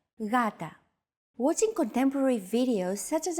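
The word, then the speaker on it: γάτα: initial G letter but it is not pronounced Gata the first consonant is softer Gata watching contemporary videos such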